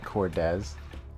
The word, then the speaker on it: Cordez: Oh, it's like Cortez but Cordez.